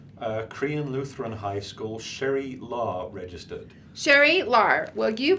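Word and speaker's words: Lah: Law, Very is that good. right pronunciation?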